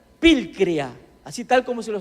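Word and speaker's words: πικρία: proviene de una raíz griega que se pronuncia vil crea así tal como se lo estoy pronunciando pil crea que significa punzante perforar como una punta atravesar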